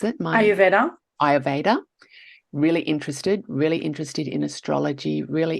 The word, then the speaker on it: Ayurveda: How do you pronounce it? Ayurveda.